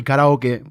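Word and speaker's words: カラオケ: be oake butake yeah but it's sake if you say saki it's like karaoke it's actually karaoke but right we call it karaoke saki we just like that Ean I guess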